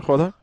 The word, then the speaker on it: jugador: then the J and H, you know? Like J sounds like an H. Uh-huh. So when like Player. How do you say player in Spanish? player, Jugador?